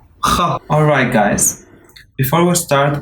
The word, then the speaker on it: خ: خ. It's pronounced farther back at the throat. You should feel a little tickle in your throat.